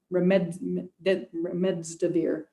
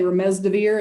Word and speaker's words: remdesivir: There's a number of, and they do the remdesivir. I always pronounce it wrong. I always want to say remdesivir, and I put the D in the wrong place.